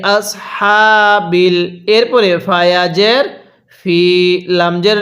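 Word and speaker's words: الفيل: feel তাহলে বি আসহাবিল feel ওয়াকফের একটি নিয়ম হলো যদি শেষ হরফের নিচে এরকম জের থাকে তাহলে সেটিকে বাদ দিয়ে দিতে হয় অথবা উপরে জবর অথবা পেশ থাকে তাহলে সেগুলোকেও বাদ দিয়ে দিতে হবে এবং শেষ হরফটির মধ্যে এরকম একটি সাকিন দিতে হবে এখন যদি আমরা লামের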